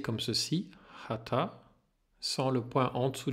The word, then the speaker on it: Haṭha: c'est h ta et il faut prononcer le TA en partant avec le bout de la langue tourner sur le haut